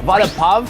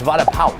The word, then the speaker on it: vada pav: First of all, vada pav, that's not how you say it. It's vada pav. Like, pow.